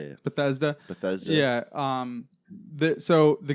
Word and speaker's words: Bethesda: it Betha how do you say it Bethesda Bethesda yeah um the so the games are made by or like the ones you like Oblivion and Skyrim and stuff are made by um Bethesda studio and then the online one is zenax